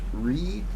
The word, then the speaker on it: Righ: That's R-I-G-H, pronounced Ree.